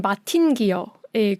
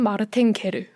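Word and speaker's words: Martin Guerre: 미국 쪽에서도 번역이 돼서 미국판으로 할 때는 마틴 기어의 귀향이라고 발음이 되고요. 원래는 마르탱? 네. 불어식으로 하면 마르탱 게르.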